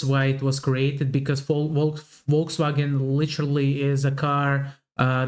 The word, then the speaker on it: Volkswagen: But even if you did go by the full name, it would be pronounced Volkswagen, and not Volkswagen. So, just imagine that it was spelled with an F and V instead. Volkswagen.